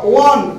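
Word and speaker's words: won: Number 5 India ওয়ান, উচ্চারণটা 100 জনের মধ্যে মনে হয় 99 জনই এখনো ওনই বলে, ঠিক আছে। বারবার বলি উইন, ওয়ান, ওয়ান, কখনোই ওন নয়।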